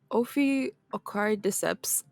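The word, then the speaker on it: Ophiocordyceps: try to pronounce this name but forgive my pronunciation so the Opie akari decepts you're gonna see how you spell it then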